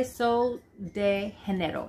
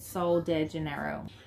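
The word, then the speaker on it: Sol de Janeiro: what it looks like this is by sol de general that's how it's pronounced everybody calls it so de genero and so it's infused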